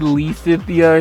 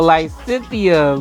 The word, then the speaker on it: Lysithea: I know I said Lysithia or something, or Lysithia. I was butchering names up and down the block, y'all. So forgive me. I know the pronunciation now. So Lysithea, my magic, Madame Magic Extraordinaire.